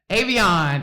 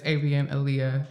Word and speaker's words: Avianalia: But we got the lovely Avon in the studio.